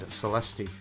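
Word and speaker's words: Celestia: Actually, Vector, I think you'll find the character herself pronounced her own name and she said Celesti. So, if the character says that she's called Celesti, she's called Celesti.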